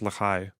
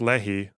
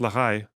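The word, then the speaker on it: Lehi: I have many Zionist colonizer friend okay it's pronounced Lai or just the stern gang isn't it pronounced Lei no apparently not apparently it's pronounced Lai yeah I was told this by a [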